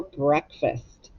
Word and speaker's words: breakfast: syllables break fast but it's tricky because the ea you hear the short e sound instead of the long e sound break fest and on first you don't hear an a you hear i think it sounds like a short you breakfast some of